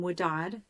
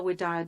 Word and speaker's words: Widad: That is, is spelled exactly like Pamela with a C. So my spiritual name, Widad, Widad.